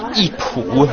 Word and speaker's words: Yipu: Well, there are 9 World Heritage Gardens in Suzhou, and actually this is my favorite garden, the Yipu, or Garden of Cultivation. Well pronounced.